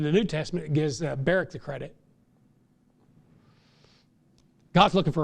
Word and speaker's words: Barak: He offered Barak the opportunity, but he said, I won't go unless Deborah goes.